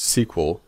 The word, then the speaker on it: SQL: database usually now SQL more commonly pronounced sequel and standing for structured query language that refers to a